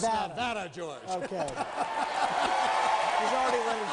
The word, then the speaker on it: Nevada: If I mispronounce it, I'm sorry. It's Nevada, George.